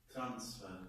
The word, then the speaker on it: transfer: when we've got, for example, verb, so we say transfer, yes? So when I have a verb, Transfer. transfer. So then sphere should be longer.